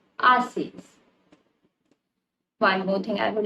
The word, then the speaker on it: haces: Now remember, haces start with H, which means the H will be silent and you will read it as haces.